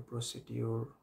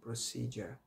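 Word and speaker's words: procedure: আপনি next time বলবেন যে আমি তো এটাকে প্রসিডিউর বলতাম বাট এখন শিখেছি প্রসিজার, বলে দেখি প্রসিজার, so what is দ্য প্রসিজার, অথবা আপনি বাংলায় বলেন এটা প্রসিজারটা কী, ঠিক আছে?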